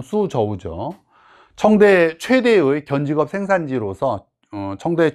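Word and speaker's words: 蘇州: 쑤저우죠 소가 이제 소주로서 소주가 이제 중국식 발음으로 하면 수저우죠 청대 최대의 견지갑 생산지로서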